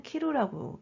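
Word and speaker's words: 着: 착도 돼요 도착하다 읽을 때는 똑같은 한자 쓰고 스라고 읽죠 근데 옷을 다라고 할 때는 키라고 읽어요 여기서는 키 그다음에 여기 미루가 붙은 표현입니다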